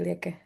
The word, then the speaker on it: Lieke: Feel very welcome to the community, Lieke. Is the right pronunciation, Lieke? It's perfect. Most people say something very different, so well done.